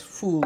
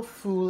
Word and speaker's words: foul: it's also known as fool when you put it all together f o u l but it's not pronounced foul it's called f in